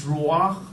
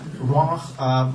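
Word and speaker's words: רוח: It's been called, it's prana in Sanskrit, it's chi in Chinese, it's ki in Japanese, it's ruach, I have to gargle my throat to pronounce that, ruach, manas in Polynesian, that's why we say mana from heaven.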